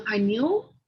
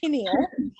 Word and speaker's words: pineal: oh the pineal? Yes. Okay. You say it correctly. I do not. I say pineal. I don't know why. Since I've started being a nurse, I can't get it right.